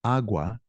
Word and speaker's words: agua: The intonation is on that first syllable. Agua, agua. So if I were to say la agua, it would sound like lagua, one word.